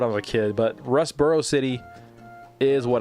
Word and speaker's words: Rustboro City: I keep saying Rust Turbo City. I said that when I was a kid, but Rustboro City is what it's called.